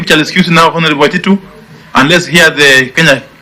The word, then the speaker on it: Waititu: I think we shall excuse now, Honorable Waititu, and let's hear the Kenya National Commission on Human Rights. That's how it's pronounced.